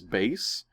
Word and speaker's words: Bass: It's supposed to be like a musical thing, like bass and treble. But if they don't spell it out phonetically, how would you know? And I didn't know, and nobody corrected me. So nobody thought. I never thought until this moment that was supposed to be bass.